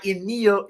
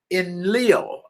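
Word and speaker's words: Enlil: great flood sent by emil i'm sorry i think it's pronounced in leo e-n-l-i-l to drown every living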